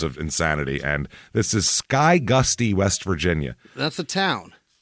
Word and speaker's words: Skygusty: two in terms of insanity and this is Sky Gusty West Virginia that's a town Sky Gusty that's it's not ska Gusty it might be but it's so small that